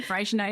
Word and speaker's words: Freycinet: Freycinet? Yeah, Freycinet. Yeah. Okay. Yeah. I didn't know if I was going to pronounce it wrong. No, Freycinet is definitely right.